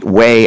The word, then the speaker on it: weigh: And that's not W-A-Y in. You know, that's not weigh in. That's 그래요. weigh as in weight.